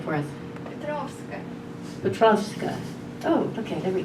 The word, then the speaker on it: Petrovska: Pronounce your last name for us. Petrovska.